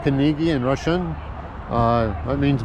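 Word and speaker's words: Книги: very much like Dunkin Donuts but it's not kigi that's that's pronounced kigi in Russian uh that mean bookstore Oz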